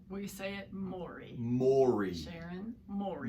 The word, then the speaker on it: Mowry: is it Maury or Maori how do we pronounce it Maury Maury right okay and I tell people I